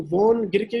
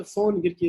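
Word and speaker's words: von Gierke: इसको वोन गिरके भी बोलते हैं, फोन गिरके भी बोलते हैं। ये जर्मन वर्ड है बेसिकली, यहाँ पे वी हो तो उसको एफ से प्रोनाउंस करते हैं।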